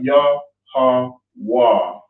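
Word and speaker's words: Yahawah: Yah-ha-wah. So I'm just going through how you would pronounce it. All right. Obviously, each character has got the symbol of how it connects on how you pronounce it. Yah, how, and then these two are connected together. You have wa here, but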